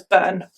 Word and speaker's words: Byrne: case is Caroline burn it's spelled b-y-r-n-e and I'm gonna pronounce that as burn but I'm gonna call